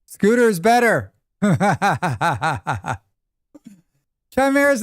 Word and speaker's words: chimera: I see it as like chai like chai timera with a K. Chimera. It's always heard it with a hard K at the start.